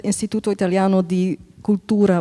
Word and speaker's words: Istituto Italiano di Cultura: Anyways, dit gesprek is er ook gekomen in samenwerking met Istituto Italiano di Cultura Bruxelles. Is that the way to pronounce it? Perfect.